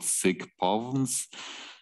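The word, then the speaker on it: SIC-POVMs: Cardinality d squared, they have a special name, which is not nice to pronounce. It's called sigpovns, and that stands for symmetric informationally complete positive operator valued measures, and this way they arise in quantum theory.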